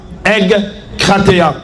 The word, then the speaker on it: egkrateia: Bien aimé, en grec, la maîtrise de soi est un mot. C'est egkrateia. Egkrateia. Comme ça se prononce.